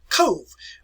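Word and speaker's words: Cobh: bit ago it's called cove it's spelled c-o-b-h-c-o-b-h but it is pronounced like c-o-v-e code it's a quaint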